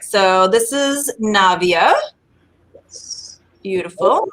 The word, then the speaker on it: Navia: It's as everyone always asks, it's Navia, like Nadia, but with a V, Navia, instead of Navia, because a lot of times people ask about the pronunciation.